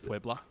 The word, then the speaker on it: Puebla: Or how do you pronounce that? See what I mean? Like it's Puebla.